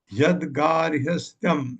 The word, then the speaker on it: यद्गार्हस्थ्यम: मेरे साथ यद्गार्हस्थ्यम, ये देखिए तो सौ से थ य तीनों लगे हैं, उच्चारण में ध्यान रखिएगा, अपने जीभ को घुमाइए।